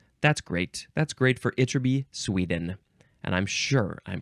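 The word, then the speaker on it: Ytterby: episode as well uh this word is from itby itby Sweden I guess that's a town or a city uh it is spelled y TT RB y so um maybe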